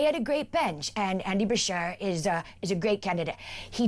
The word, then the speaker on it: Beshear: How do you pronounce his surname? Andy Beshear. Beshear, yep.